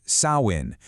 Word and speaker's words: Samhain: Samhain, and for the record, it's pronounced Samhain, was essentially the Celtic New Year.